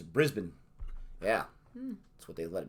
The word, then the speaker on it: Brisbane: Just like Brisbane is Brisbane.